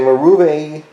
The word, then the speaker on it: Marvue: It is a Marvue, that's how you pronounce it, DC075.